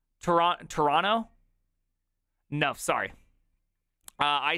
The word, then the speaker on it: Toronto: Toronto, stop with the T. Toronto?